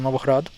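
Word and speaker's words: Новоград: In Ukrainian, it's actually Novograd, and the emphasis is on the last syllable here.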